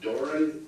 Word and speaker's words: Doran: Doran, it's pronounced Doran, D-O-R-A-N?